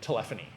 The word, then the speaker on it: telephony: And yes, that's how you say it, telephony.